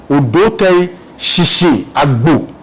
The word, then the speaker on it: Odoi Kwao: They say Sisiabo, it's Odoi Kwao.